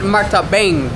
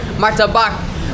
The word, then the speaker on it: Martabak: Martabak. Not Martabang. Not martabak. Martabak.